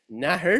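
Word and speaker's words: nathair: the Irish the Modern Irish word for snake naher is pronounced today Once Upon a Time was pronounced nather and it is related it is cognate as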